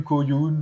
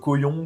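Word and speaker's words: Kauyon: Coyun, cyon comme vous voulez le prononcer.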